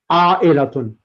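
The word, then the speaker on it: عائلة: A'ilatun.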